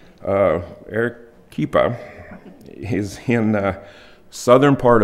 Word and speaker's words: Arequipa: Arequipa. Arequipa. Arequipa? Yeah. It's with a Q-U. It's with a Q-U, but spelled pronounced with a K. It sounds with a K. Arequipa is in the southern part of Peru.